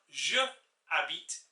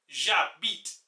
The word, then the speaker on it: j'habite: the only problem is the H or the H is silent en français. Therefore, you have to conjoin both of them together with an apostrophe. A bit like in English where you have words like mustn't and can't. It's kind of like that for the sake of pronunciation. So instead of je habite, it becomes j'habite.